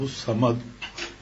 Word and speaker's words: الصمد: اس نے کہا بزرگ نے کہا اللہ الشمد پڑھا کرو تو اللہ الشمد پڑھتے پڑھتے جو ہے تجلیات انوارات کیفیت بننی شروع ہو گئی. خیال آیا کہ صحیح لفظ تو ہے اللہ الصمد.